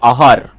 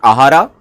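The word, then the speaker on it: आहार: it's actually pronounced as aar right it's silent the last a is silent people use it for different patterns In south people usually pronounce it ahara right but it is actually aar the word how it is pronounced.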